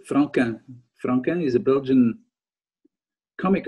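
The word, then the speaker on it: Franquin: q u i n and you pronounce it the french way frank okay he's a comic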